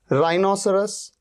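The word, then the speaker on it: rhinoceros: अच्छा, यहां पर देखिए राइनोसरस, राइनोसरस में या रिदम में आप देख रहे हैं एच से पहले क्या आ रहा है, आर, यहां पर एच का साउंड ही नहीं है।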